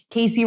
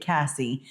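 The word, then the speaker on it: Kasey: I get it pronounced wrong a lot, too. I usually get Cassie, and I'm with Kelly.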